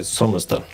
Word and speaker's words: Sommersten: And if you just remove the sort of the O there, then it's okay to just say Sommersten.